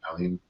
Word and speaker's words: Aline: me or Nathan and Aline. Am I pronouncing your name right, Aline? Aline, yes, you're saying it very right.